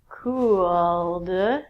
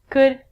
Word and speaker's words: could: All of these L's are silent. So it sounds like should, could, and the thing that we get from trees, would.